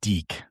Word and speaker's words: DIC: It's so DIC. It's Deke is how it's pronounced. Yes, Deke. Yes, because that's how they at the end of the shows. At the end of the shows, they would always say Deke, and I know, I